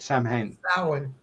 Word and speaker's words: Samhain: particularly the Gaelic Festival Festival of Sam Hayne and I'm pronouncing that right Samhain thank you good it doesn't uh